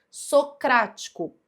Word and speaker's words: socrático: Porque aqui, ó, socrático, a primeira sílaba é o sou, não é ela que deve ser a sílaba mais forte para que essa palavra seja considerada uma proparoxítona. Você precisa contar aqui, ó, de trás para frente.